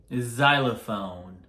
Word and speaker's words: xylophone: 그러면 어떨 때 Z 발음이 나올까? Xylophone. Xylitol.